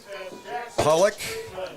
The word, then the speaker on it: Pollock: Redfield and the Mobridge Pollock am I saying that correctly Ted Pollock that's how we pronounce it well I was uh